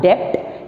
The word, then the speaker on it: debt: See, before I come into this, DEBT, it is not debt, it is debt. B remains silent there.